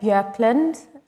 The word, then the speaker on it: Bjorklund: Bjorklund, which is the correct way to pronounce it.